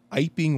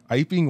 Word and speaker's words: Iping: Our story begins when a mysterious stranger arrives at an inn in Iping, West Sussex. I believe that's how that's pronounced. Yeah. Iping, West Sussex.